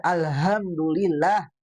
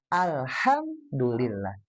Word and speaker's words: Alhamdulillah: Kayak misalnya hamdalah gitu ya atau ayat kedua tadi kekeh bacanya alhamdulillah. Alhamdulillah gitu ya. Nah, hati-hati harusnya H kecil ya. Alhamdulillah.